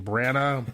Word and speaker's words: Branagh: I always mispronounce his name. Branagh.